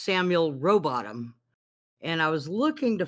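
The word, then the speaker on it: Rowbotham: him go ahead oh I was gonna say is the H silent he said yeah it's pronounced robotom and the only reason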